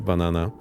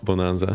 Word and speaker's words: Bonanza: That's a Banana. So there was this viral video, someone mispronouncing it very heavily on the radio. Instead of Bonanza, saying banana, and that's why it's banana now.